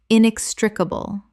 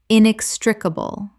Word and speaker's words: inextricable: Common mispronunciation. Inextricable. Correct pronunciation. Inextricable. 5 syllables with the stress on the second, meaning impossible to separate.